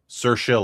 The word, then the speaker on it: Saoirse: And finally, one last trailer, starring it's Saoirse Ronan. Saoirse Ronan. Okay. Yeah. Saoirse like inertia.